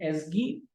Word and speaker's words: ASGI: ये url.py, बाकी files इसगी, इसको बोलते हैं एसगी, ASGI एसगी, और इसको पढ़ते हैं WSGI विस्गी।